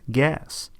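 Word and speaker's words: GAAS: the Generally Accepted Auditing Standards, or GAAP, pronounced GAS.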